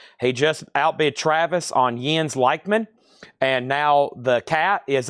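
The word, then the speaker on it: Jens Lekman: Michael Rudolph was second, and Les Sav is at 90, and it's pronounced Jens Leichman.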